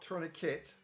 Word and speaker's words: tourniquet: It's pronounced tourniquet, not tourniquet. There's no K in the word. There's no K-I-T in the word. It's tourniquet. It's French.